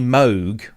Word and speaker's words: Moog: love thank you mini Moog as in m-o-g-u-e spelled how it's pronounced that's a brilliant name yeah yeah I remember that's it mini Moog uh that was it